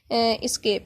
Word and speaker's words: ESC: उसके बाद एस्केप की है, ESC प्रोनाउंस इसको करेंगे एस्केप की।